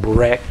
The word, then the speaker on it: burek: I love that burek that you make. Am I saying it right, the burek? Yes, burek. But back to ravioli.